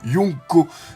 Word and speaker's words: Yonko: d'accent ou de mâcon se prononce bien lyon co du coup les cinq